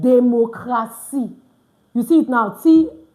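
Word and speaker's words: démocratie: I said democracy. You see it now, TIE. I didn't say democracy. All right, please take note of that. Why? Because the TI is pronounced C in French.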